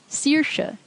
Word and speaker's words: Saoirse: AOI also gets pronounced E, as in E or Saoirse.